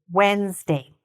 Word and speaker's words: Wednesday: So here, it sounds like it's got a lot of syllables, but actually, when we say it, it doesn't. Wednesday. How many syllables did you hear? Wednesday. 2. Okay? It only has 2 syllables.